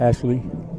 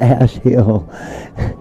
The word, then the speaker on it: Ashli: That's why I said Ash Hill. And the only reason I knew you was pronouncing it wrong because I heard him, Rick Ortiz and Ashley.